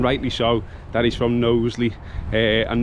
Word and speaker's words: Knowsley: so, that he's from Knowsley, and Knowsley does include a K, which is silent, hence the name.